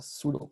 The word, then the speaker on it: Pseudo: Now, technically, you can run Hadoop on single node that's known as a pseudo cluster. Pseudo P is silent here.